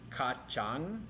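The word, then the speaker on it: kacang: we have other proteins kachang remember the C is pronounced like a CH kachang is bean tahu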